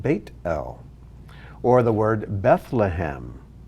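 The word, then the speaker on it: בית אל: and when you see the name beth l which means house of l house of god it's technically translated bait el or the word bethlehem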